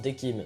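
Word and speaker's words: Decim: D'ailleurs, il me semble que ça se prononce Dekim, mais je m'en souviens plus.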